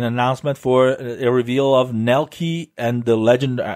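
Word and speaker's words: Nelke: for a reveal of Nell key and the legend Nell K probably probably Nell care because it's probably a German German pronunciation and the legendary Alchemist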